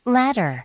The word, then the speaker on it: ladder: Ladder. ladder. D가 리을로 바뀌어서 Ladder. ladder 이렇게 나는데 영국일 때는 Ladder. ladder. 맞죠? 제일 끝에 R 발음 탈락하면서 D 발음을 살려서 Ladder. 이런 느낌으로 가는 겁니다.